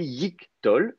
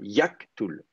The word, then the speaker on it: yiqtol: Donc, c'est pour ça qu'on dit yiktol et pas yaktool.